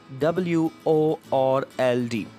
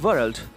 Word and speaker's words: world: And it is nothing but WORLD. Some of us, we pronounce this word as world. So it is not world, and the right form of the pronunciation is world.